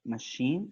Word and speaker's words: machine: with a CH sound we also have machine for example machine so it's Shh and we also have